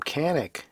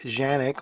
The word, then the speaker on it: Canik: And yeah, I've given up pronouncing it Janik, although I think that is correct. But since in their own commercials and advertisements, they're saying Canik, I'm going to give in and say Canik.